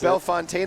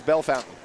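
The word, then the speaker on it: Bellefontaine: to you know y pronounce b Fontaine Ohio no sir B Fon no sir it's Bell Fountain verai Kentucky that'd be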